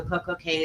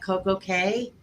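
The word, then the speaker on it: CocoCay: to um Copo K I call it K because it rhymes with perfect day all right thank you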